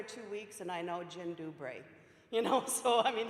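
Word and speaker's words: dzień dobry: 90 minutes to spare this is the Polish hello jyn dubray is how you say that that means hello the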